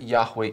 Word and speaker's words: Yahweh: But then we go on and we ask, okay, so how do we know that Yahweh is the right way of pronouncing it?